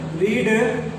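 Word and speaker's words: read: Spelling बिल्कुल same होती है बट इनका जो प्रोनाउंसिएशन होता है वो थोड़ा डिफरेंट होता है। जैसे रीड, रेड और रीड।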